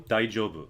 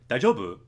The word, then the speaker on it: 大丈夫: If you say, daijobu, if you say it like that, daijobu, it's a question, are you okay? And then, daijobu, daijobu, I'm okay.